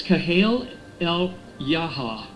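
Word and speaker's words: al-Hayya: I guess that's how you say it. I've heard other people say it. It sounds about the same. It's kind of like you're saying yaha, you know, to someone. Uh the deputy chief of Hamas's political bureau.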